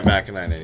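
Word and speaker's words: Vaakanainen: Is it Vekanainen? Oh, yeah, Vakanainen, yeah.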